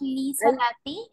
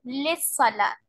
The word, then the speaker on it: للصلاة: Dear, not li salati. We pronounce this word like lissalat.